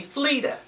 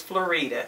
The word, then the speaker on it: Florita: and she says and she mispronounces my name and she calls me flea my name is florita she said flea you